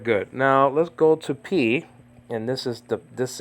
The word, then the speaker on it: pi: whatever it was okay but don't say pie in the movie of Alfred Hitchcock a torn curtain they pronounced it pie Dulce pie say p okay uh some say that